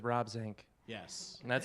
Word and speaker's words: Zinck: It's Swimmer Sink rhymes with Rob Zinck, Yes.